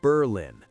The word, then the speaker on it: Berlin: Up near the Canadian border, where winter lasts longer than summer, sits Berlin, pronounced Berlin, not like the German capital.